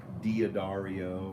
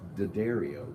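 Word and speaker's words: D'Addario: I just go to the daddario and that's how it's pronounced it's not do Dario or Dario it's daddario I went to their website and watch them talk about it because everyone who passes differently it's daddario so anybody use those on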